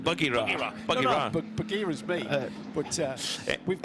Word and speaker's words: Bagheera: I prefer Nick's pronunciation of the second Mercedes, Bagheera, pronounced Boogie-Ra. But it is like Bagheera, but no, it's off.